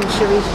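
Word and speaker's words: Charisse: I'm Sharice. Can you spell it first? Spell the first? Both names, yeah. Sharice, C-H-A-R-I-S-S-E. Thank you very much, Sharice.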